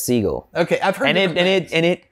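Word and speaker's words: Segall: a different stuff he says he actually says Siegel okay and it and it cracked my mind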